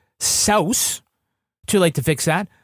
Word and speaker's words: Seuss: So his middle name is Seuss, but it's actually pronounced Saus.